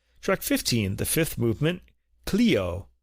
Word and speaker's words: Clio: Track 15, the fifth movement, Cleo, the muse of history. I've also heard this pronounced clio in English.